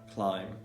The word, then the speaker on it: climb: example in the words comb to climbing climb climbing yeah thumb thumb thumb crumb crumb crumb